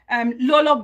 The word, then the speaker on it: Lolo: If those of you who don't know LOLO MBAKARA, it's Lolo, I think it's Lolo because there's no R at the end, so I pronounce this Lolo.